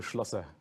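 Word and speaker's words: Schlosser: We are pleased to welcome Mario Slasser who is the co-founder and co-CEO of Oscar Insurance Company. Mario, I want to make sure I got your last name right. How do you say it? Mario Schlloer.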